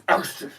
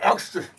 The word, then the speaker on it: Elkstrift: And it's not drift, it's elkstrift. That's how you say it, elkstrift. Like Elvis.